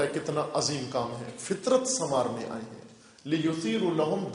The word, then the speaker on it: فطرت: توئے رے تے فطرت، لیکن اس تلفظ کے ساتھ فطرت یعنی فے کے نیچے زیر ہو. فطرت، فطرت نہ فطرت، فے کے نیچے زیر ہو، توئے کے اوپر سکون ہو، جزم ہو، اور رے زبر ہو، تے جزم ہو.